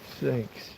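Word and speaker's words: CeX: C E X completely but pronounced sex.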